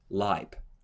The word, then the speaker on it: Leib: In the third line, you have EI, and you say the word of the second letter, I, Leib.